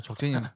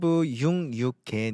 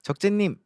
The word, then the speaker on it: 적재: 제가 이제 가서 제 이름을 적재로 소개하고 성이 정이라고 하니까 그 J 발음을 묵음하더라고요.